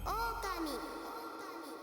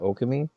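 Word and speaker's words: Ōkami: Okami. Is it Okami? Oh, I've been saying it wrong since 2006. Whoops. I guess there is the line over the long O.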